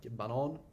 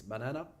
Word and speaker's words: banan: Banan, which means banana, but if you pronounce it banan, it means the track.